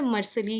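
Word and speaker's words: Mercalli: I hope मैं सही pronounce कर रही हूँ, वैसे मर्सली ही बोलते हैं।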